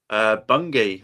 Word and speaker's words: Bungay: But I want you to tell us about, now again, I pronounce this wrong, Bungay. Yes. Bungay. How do you pronounce it? Bungay, I think it is.